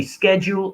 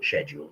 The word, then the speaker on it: schedule: it says basic well the pronunciation can be scheduled or scheduled they're both correct personally i prefer schedule um so yeah it